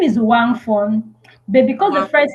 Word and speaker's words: Uwakmfon: Tell me how it's pronounced. My name is Wangon.